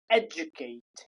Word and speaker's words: educate: Next is J sound, educate, educate. The way it's pronounced is j, stop, u, educate, Kate, educate, educate, educate, educate yourself. So this is the way we pronounce it.